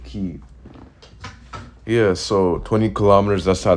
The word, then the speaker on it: Kyiv: So okay, yeah, it's Kyiv. That's how you say it, Kyiv.